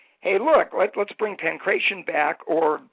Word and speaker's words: pankration: In 1993, the Greeks said, hey, look, let's bring pankration back, or the way the Greeks pronounce it is pakration, and let's come up